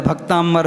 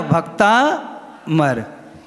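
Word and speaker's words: भक्तामर: देखो सब बोला भक्तांबर बोल रहे हैं। कोई नहीं बोलेगा भक्ता मर ये शुद्ध है।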